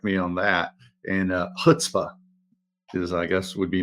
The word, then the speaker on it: chutzpah: Some people drop the c right from the front, and they go straight to chutzpah.